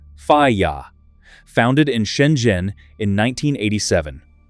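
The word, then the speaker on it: FIYTA: The brand is FAA, pronounced FYA, founded in Shenzhen in 1987.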